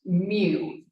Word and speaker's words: mu: This is pronounced mu. Like U with an M. Or if you play Pokémon, Mewtwo.